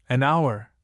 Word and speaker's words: hour: An inkstand, a bag, a historian, a humble petition, an hour, H is silent, a unit begins with the consonant sound of Y.